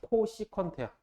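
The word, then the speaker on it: cosecant: 그래서 이게 어떻게 읽냐면 코시컨트야. 코시컨트. C 붙은 거는 코라고 읽으면 돼요. 앞에를 코, 사인.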